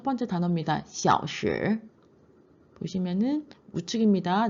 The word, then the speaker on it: 小时: 小时 보시면은 우측입니다. 네 번째 小时 시아오로 내려가서 시로 올라옵니다.